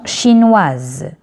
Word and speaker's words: chinoise: Et S entre deux voyelles, ça va se prononcer Z. Chinois, une chanson chinoise.